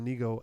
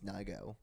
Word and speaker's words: Nigo: So the I'm second pretty song, sure, by Let the way, we're saying it wrong. I think it's Nigo. Nigo. I heard people pronounce it Nigo.